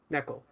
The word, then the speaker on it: neko: kitten um and that is how you pronounce neko neko it's pronoun it's spelled n-e-k-o in the english letters um so i'm talking